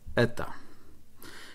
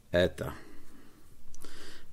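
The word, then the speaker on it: η: przykład, żeby było jasno, jak dokładnie się wymawia eta. I to się czyta jak Yorkshire man, czyli ech prawie, że albo French pere. No, jest dokładnie e.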